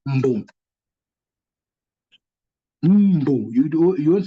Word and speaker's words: mbu: But the real pronunciation is mbu. There's no U before the M.